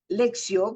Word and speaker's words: lectio: llamado la lexio divina lexio que en latín se escribe lectio se refiere a la